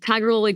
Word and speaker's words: Tigirlily: So, honestly, it comes from the tiger lily flower um cuz it grew naturally in our parents' backyards. And then later on, we added on gold just for several reasons, but tiger lily gold.